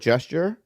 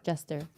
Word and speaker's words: jester: And this is the queen, and this is the court gesture. Jester. Yeah. Is that how you say it? Gesture? Jester.